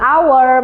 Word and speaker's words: hour: Atau bunyi vokal misalnya an apple, an elephant, an hour, meskipun diawali huruf konsonan H, tapi pengucapannya huruf vokal.